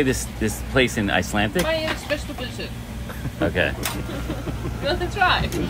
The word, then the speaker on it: Bæjarins Beztu Pylsur: Bæjarins Beztu Pylsur.